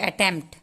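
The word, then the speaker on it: attempt: अटेम्प्ट, पी के बाद टी का थोड़ा सा साउंड आएगा, अटेम्प्ट। कैसे? देखिए, अटेम्प्ट, अटेम्प्ट, थोड़ा सा उच्चारण में देखिए ध्यान, प के बाद ट आएगा, अटेम्प्ट, ऐसे हमको बोलना है।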